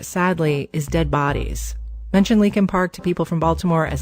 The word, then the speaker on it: Leakin Park: here about linkin park it's actually spelled leakin park l-e-a-k-i-n but almost everyone in baltimore pronounces it lincoln park it's huge over a